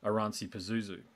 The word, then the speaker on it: Oranssi Pazuzu: it all along comes and I hope I pronounce your band name correctly here but oransi Pazuzu how does that is that the way you